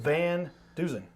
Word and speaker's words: VanDusen: mess up your name a couple times but van duen yes sir said it right set it right